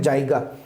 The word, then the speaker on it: giga: ठीक है, तो गीगा और जाइगा दोनों बात बराबर होती हैं, GIGA स्पेलिंग होती है इसकी इंग्लिश में। तो हमने अलग अलग जगह इसके अलग अलग उच्चारण देखे, इसलिए दोनों शेयर किए हैं आप लोगों से।